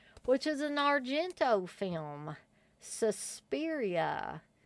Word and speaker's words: Suspiria: I'm going to move on to the next film, which is an Argento film, Suspiria. Or if you say it like the theatrical trailer, Suspiria.